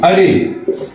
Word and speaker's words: array: अब एक और डिफिनेशन यहाँ दिया गया है, ARRAY, अरे, इसको प्रोनाउंसिएशन अरे है।